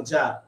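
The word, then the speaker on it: czar: জার, এই জারটা গুরুত্বপূর্ণ, জার উচ্চারণটা হচ্ছে আপনার জার, কিন্তু দেখেন বানান সি জার, সি জেড আর, এটা সবাই কমেন্ট করেন,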